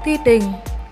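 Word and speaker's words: teething: Mình xin đọc lại từ này là ti đình, nhấn âm 1.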